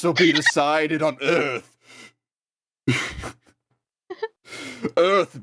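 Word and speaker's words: Urth: be decided on Earth Earth being spelled u-r-t-h a small planet swinging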